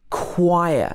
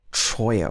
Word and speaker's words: choir: echo also in choir a lot of people get this word wrong it should be choir not troya or anything like that so in this case it's also a silent h but just for example